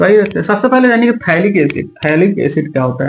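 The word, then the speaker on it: phthalic acid: थैलिक एसिड। यहां से पी आपका साइलेंट रहता है। ठीक है? थैलिक एसिड इसको पढ़ा जाता है। ठीक है? पी साइलेंट होता है।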